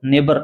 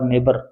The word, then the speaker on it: neighbour: इसमें शुड बोलो, इसको नेबर बोलो, क्या बोलोगे इसको, नेबर। नेबर माने पड़ोसी होता है। इसमें GH साइलेंट है, स्पेलिंग थोड़ा ध्यान रखना, NEIGHBOUR, नेबर, पड़ोसी, बहुत मोस्ट स्पेलिंग है इसकी।